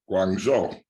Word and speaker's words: Guangzhou: Guangzhou.